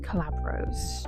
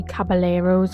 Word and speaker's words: Caballeros: Anyway, moving on to number 6, I have a film from 1944, which is the Three Calabros. It's actually the Three Caballeros, I said it wrong.